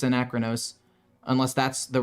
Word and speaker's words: Anachronos: I don't know why I keep calling him Arcanos. It's Anachronos.